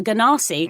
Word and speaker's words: Genasi: Is it a Genasi? Or a Genasi. It's a hard G. A Ganassi.